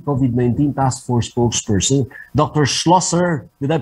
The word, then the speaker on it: Schlosser: Schlosser, did I pronounce your family name correctly, ma'am?